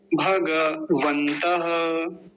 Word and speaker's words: भगवंत: लिखा ये जो है मंत्र में गलत उच्चारण होगा भगवंत भग भग गलत है भग सही है भगवंत मेरे साथ बोलिए भगवंत